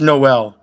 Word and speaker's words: Noe: That's Noel. She just dropped the L off.